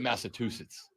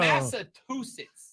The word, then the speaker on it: Massachusetts: You said Massachusetts. I was about this was going to be the first physical fight between us. There is no T in the back end of Massachusetts.